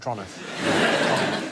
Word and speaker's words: Toronto: So it's Toronto, not Toronto. Oh, is it? Toronto. Toronto. Toronto. Toronto. Like as quick as you possibly can. Like it's a crime to say it. Toronto.